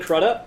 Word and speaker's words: Crudup: only other question was how do you pronounce a Billy could oops last name Selleck Crudup Crudup right yeah okay I'm sure he's